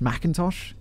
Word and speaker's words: McIntosh: trigger man caden mcintosh this macintosh is how you say mcintosh macintosh it's weirdly spelled this babyface killer was